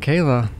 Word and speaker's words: Kala: John Paul Castro hello Kayla hello am I saying it right you are yes Kayla I want to like